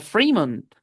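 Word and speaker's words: Fremont: Esto es una excepción para la i larga porque se pronuncia Freemond, aunque tiene un solo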